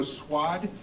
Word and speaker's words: Swad: my name is swadd it's an odd name just remember it rhymes with odd swad someone told me